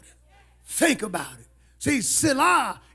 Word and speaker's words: Selah: See, Selah is not supposed to be read or pronounced. It's a musical note.